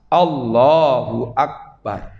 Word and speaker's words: Allahu akbar: itulah bacanya harus pas Allahu akbar kalau Allahnya Memang betul karena itu Alhamdulillah asma Allah nama Allah maka Allahnya dipanjangkan tapi tidak usah panjang sekali Allahu akbar kecuali kalau